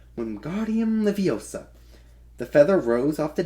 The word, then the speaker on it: Wingardium Leviosa: "Wingardium Leviosa," he shouted, waving his hands like a small windmill. "You're saying it wrong," Harry heard Hermione say. "It's Wingardium Leviosa. Make the gar nice and long."